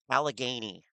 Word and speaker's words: Allegheny: How can nobody pronounce Allegheny?